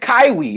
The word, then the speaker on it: Kaiwi: It's pronounced Kaiwi. If you put Kyi, it's Kaiwi.